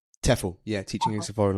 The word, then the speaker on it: TEFL: you started a business to train um other teachers of English as as a foreign language which is do you pronounce the acronym TEFL? TEFL.